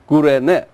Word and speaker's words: Cyrene: Cyrene. Yeah, Cyrene. Cyrene. It's the same name. And called Kurene. Y, Cyrene, Y, spells in Y, but it pronounces U. Kurene.